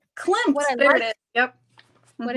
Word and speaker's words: Klimt: Klim?